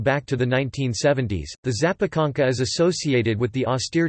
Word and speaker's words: zapiekanka: A zapiekanka, Polish pronunciation, zapkaka, plural, zapiekanki, pronounced zapkak-i, is an open-face sandwich